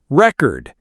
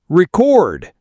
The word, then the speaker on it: record: Nouns often stress the first syllable, record. Verbs the second, record.